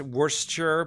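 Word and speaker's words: Worcester: H oh uh John saying uh and it's pronounced Worster because the English are villains true wor okay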